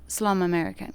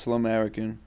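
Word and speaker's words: Slumerican: I I like to make records last question slum American can you tell tell us something about that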